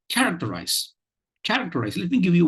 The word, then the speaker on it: characterize: in the coming words okay so it is characterize characterize characterize and not character characterize and not characterize I'm I'm in this pronunciation I'm giving you two stress syllables I'm